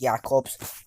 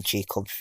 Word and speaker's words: Jacobs: Ismail Jacobs, it's pronounced Jacobs. I was watching a Cologne game, and that's how you pronounce it. I've been pronouncing Jacobs recently.